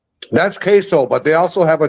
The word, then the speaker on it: queso: Like a quiso or something like that. Queso.